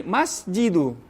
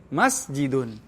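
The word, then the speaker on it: مسجد: tidak mungkin teman-teman akan membaca satu kata seperti ini almasjidun salah begitu juga jika tidak ada alif lam teman-teman membacanya seperti ini masjidu salah yang tepat jika ada alif lam dibaca tanpa tanwin almasjidu ini yang tepat jika tidak ada alif lam maka dibaca Tan tanwin masjidun tidak boleh dibaca almjidun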